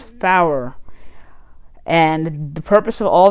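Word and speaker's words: four: Numbers have a slightly different pronunciation, such as 9 is Niner, 4 is Fower.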